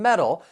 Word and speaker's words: metal: if we're talking about that t in metal it's going to be a flap T which is going to sound more like a soft D sound and the reason that we're going to use a flap T is because it comes between two vowel sounds so um I'm from